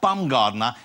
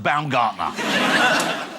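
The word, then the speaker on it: Baumgartner: he had to say to someone no not bumgardner it's pronounced bam Gardner the world's oldest dad has been announced he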